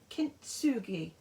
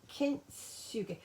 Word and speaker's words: Kintsugi: So Kintsugi, because I know that TSU in Japanese is pronounced Tsu. Yeah, I think that's how it's pronounced.